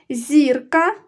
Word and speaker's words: зірка: коли їх багато зірки зверни увагу зірка наголошений перший склад зірки наголошений другий склад перше